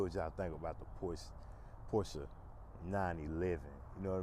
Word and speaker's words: Porsche: But Porsche is the correct title, or should I say correct pronunciation for this. So it is a Porsche, not a Porsche, for those that thought it was Porsche because you hear everybody else saying Porsche. It's not what it is.